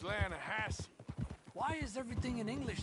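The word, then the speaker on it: Lannahechee: trout you mean Atlanta no no no the Lana hatch it runs right near here yeah but it's pronounced Lana Hass why is everything in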